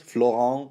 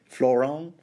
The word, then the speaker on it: Florent: why how on Earth I'm gonna give you the French pronunciation yeah Florent floron why why wouldn't it be French why floron celis yeah Axel okay